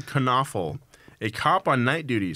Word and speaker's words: Knoefel: local criminal William knoefel kunafa con awful that's very important that you pronounce it all right William Kern awful a cop on night